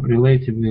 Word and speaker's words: relatively: So just the stress on that one, relatively, should be on the first E.